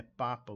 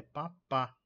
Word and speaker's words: papa: P pá P pá com a sílaba tônica no final negativo é papa Ok é papá papá r r na